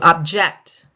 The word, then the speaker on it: object: To object. Object. Object. On the second syllable.